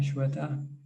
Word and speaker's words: Shweta: let's go to shweta hi shweta am i pronouncing your name right yes that's right where are you from